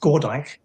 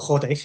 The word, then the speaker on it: Gordijk: And so knowing that, like, my last name is Gordijk, or Gordijk, if you want to pronounce it the Dutch way.